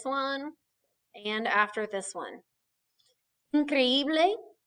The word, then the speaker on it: increíble: Increíble, incredible, accent on the second I.